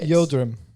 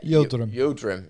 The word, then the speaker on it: Yildirim: I can't pronounce his first name that well, but it's just Yildirim. Yeah, Yildirim.